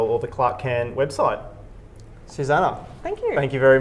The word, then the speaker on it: Susanne: you and for people Susannah it's a it's an e that's pronounced an a at the end in case you can't